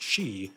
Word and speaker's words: shi: In fact, there's an entire Chinese poem called Lion-Eating Poet in the Stone Den, composed of 92 characters, all of which are pronounced she, just with different tones.